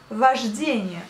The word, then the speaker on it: вождение: Вождение. Donc là, la conduite de la voiture, ça veut dire вождение. Pareil, vous prononcez le A, mais vous écrivez le O.